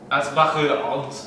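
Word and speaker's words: Asbach Uralt: Actually, they taught me how to correctly pronounce it, my German friends, when I was over there. Aspachirot.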